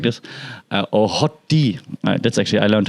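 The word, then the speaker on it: HOTD: from YouTube to say it like this or hot tea that's actually I learned how to say hot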